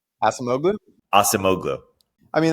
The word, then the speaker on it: Acemoglu: his last name aogu Asim mogu I mean I think the Turkish pronunciation is more like aimu but like I think uh he just goes by asoglu he's not born in